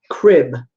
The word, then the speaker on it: Kryb: And so it's obviously meant to be pronounced crib, like a baby's crib, but it's spelled Kryb.